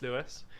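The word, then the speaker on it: Louis: name is Lewis it's spelled the funny French way like the king so l-o-u-i-s but it's still pronounced Lewis and blame my parents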